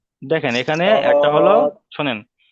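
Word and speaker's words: شين: আর এটার আওয়াজ হবে শিন, শিন। দুটার কিন্তু আওয়াজ আলাদা, ঠিক আছে? দুটোর উচ্চারণ আলাদা।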